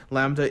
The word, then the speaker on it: lambda: The symbol for Half-Life, I didn't realize this was Lambda. Is that how you pronounce it?